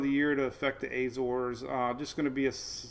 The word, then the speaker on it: Azores: thing we're watching is Rebecca Rebecca is another Azores storm you notice I got the word right